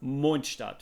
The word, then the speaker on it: Mondstadt: And yes, it's called Mondstadt. Not Mondstadt and not Mondstadt. It's Mondstadt, because I'm a native German and I know how to pronounce it.